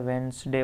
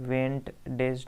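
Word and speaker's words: Wednesday: यहाँ पे D silent होता है, वेडनेसडे पढ़ते हैं, वेंट डेज नहीं पढ़ते, वेडनेसडे पढ़ते हैं।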